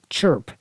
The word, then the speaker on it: CRHP: It was abbreviated CRHP, but people pronounced it CHIRP, as if the H and the R were reversed.